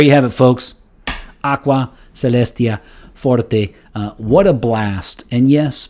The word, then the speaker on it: Celestia: the element in question here is the word celestia uh pronounced here uh in english usually we say celestia but it is celestia so so celestia is